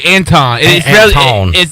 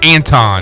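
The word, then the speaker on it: Antawn: a n t a w n a w anton it's spelled like anton yeah that's right i remember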